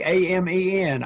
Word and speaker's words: Amen: Daniel Amen, it's pronounced Amen. It's like A-M-E-N, Amen.